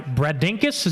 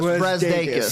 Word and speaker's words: Brazdeikis: Michigan is led by Bradinkus. Does that say it right? Close. Brazdeikis. Brazdeikis.